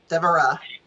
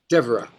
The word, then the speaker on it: Devara: Devara. Devara. Okay, great. Yeah, Devara. Devara. Okay, emphasis on the Egyptian Ra.